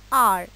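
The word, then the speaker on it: hour: हम पढ़ चुके हैं, ऐसे वर्ड्स जिनका पहला लेटर एच होता है लेकिन वो एच साइलेंट होता है, और सेकेंड सिलेबल से हम वर्ड को प्रोनाउंस करते हैं। फॉर एग्जाम्पल, जैसे आर, ऑनेस्ट। तो इस तरह के वर्ड्स पे भी आप लोग ध्यान रखेंगे कि यहाँ पे एन को यूज़ किया जाता है। तो क्या रूल बनता है, before a word beginning with a silent H एज एन आर, an honest man, etcetera.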